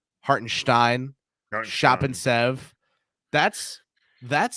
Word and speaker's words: Hartenstein: and stein-esque I mean they both have an S followed by a consonant in their name that's pronounced like there's an H there when there isn't hartenstein shop and Sev that's